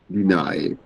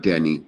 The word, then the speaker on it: deny: you say that uh to deny deny not Denny deny yes okay next one